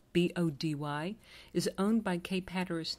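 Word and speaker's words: Bodie: the 1980s by the island lighthouse pronounced be ody is owned by Cape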